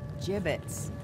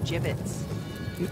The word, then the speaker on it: gibbets: Hey look Avery had some gibbets left over gibbets what it's pronounced jibbets are you sure yeah well no one likes